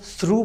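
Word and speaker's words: through: ये हमारे pass थ्रू इसको हम थ्रू पढ़ते हैं थ्रू है तो इसमें देखें जी ए हमारे पास साइलेंट है इस तरह ये ड्राउन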